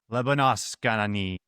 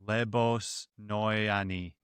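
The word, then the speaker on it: Lebosnoyani: Do you want to take a stab at pronouncing Jean Paul's last name there? Lebonoyani. Yeah, that's that's correct. Lebonoyani.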